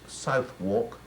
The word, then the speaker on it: Southwark: bear garden in Southwark Southwark then pronounced south walk which is what I'll